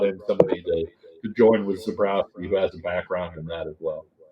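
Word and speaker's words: Zebrowski: Did I say his name right? Zombrowski. Zabrowski, Zabrowski. yeah, Zabrowski obviously came up or learned under Andy Kotelnicki, right?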